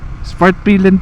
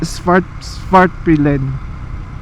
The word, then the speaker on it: Svartpilen: Isang ayaw ko sa motor na to, ang hirap pronounce, di ba? Anong pangalan niyan, di ba? SVARTPILEN po. Ano? SVARTPILEN? SVARTPILEN po. SVARTPILEN.